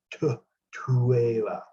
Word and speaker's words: Tuela: ancient names in AhResh, the TH is not going to be pronounced as like thin. It's not going to be like that. It can be more of a TH sound, like Tuela. So you're pretty much pronouncing the T and the H together.